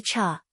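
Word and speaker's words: 刹: a threat for shua chau. The cha when pronounced sha literally translates to break like break on a car. But I am pretty sure it is meant to be pronounced cha here which has to do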